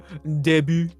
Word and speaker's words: debut: You've got DE. You've got an E being pronounced as an A. Yeah. Of course it's French. Debut.